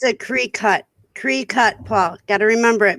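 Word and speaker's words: Cricut: Well, everybody tells me it's call it cricket. It's a Cree-cut. Is how it's pronounced.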